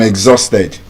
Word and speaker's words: exhausted: So you don't say I'm exhausted. You are exhausted. Exhausted. There's a g sound there.